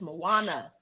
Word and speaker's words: Moana: y'all hear you Saida you put a w in the girl name and a D did that never did that never did that it's Moana not true you added so many words you added syllables to the girl the crazy part is